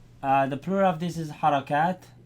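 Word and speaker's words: حركات: The plural of this is Harakat. Harakat.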